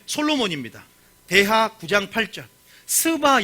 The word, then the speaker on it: 스바: 입니다 대학 부장 팔짜 스바 여왕 이라고 있어요 발음 조심하셔야 되요 스바 여왕 이라고 굉장히